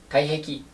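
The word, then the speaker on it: 体癖: 体の癖って書いて、体壁って読みます。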